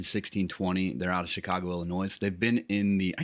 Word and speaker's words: Illinois: they're out of chicago illinois they've been in the i keep saying illinois is it illinois no it's illinois no s i think right but i always